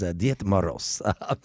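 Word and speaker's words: Дед Мороз: Uh, me pronunciation is Diet Maros.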